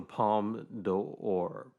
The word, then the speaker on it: Palme d'Or: I think it's the Palme d'Or. But the d'Or, you almost say it like it's one syllable, but it's like two syllables, but it's like 1.5 syllables.